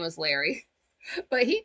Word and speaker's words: Lowry: well, Frank calls him Larry, so that's his name, but his name is spelled Lowry. But the first time he said that, Frank heard Larry. I heard Larry too, so I started thinking about the lava lamp.